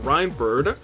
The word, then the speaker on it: Reinford: will be enough uh reinford is pronounced reinford uh long ey sound thank you uh you